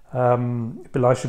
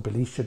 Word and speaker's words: Belisha: I made them this way because I just didn't like any of the Belisha beacons, or Belisha beacons, depending how you pronounce Leslie Hall Belisha's surname, that were available commercially.